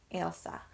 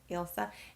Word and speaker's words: Ailsa: Ailsa. So instead of Elsa, you have the AI, so Ailsa.